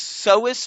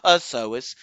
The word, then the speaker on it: psoas: is silent so it's psoas major not possous the p is silent so is major and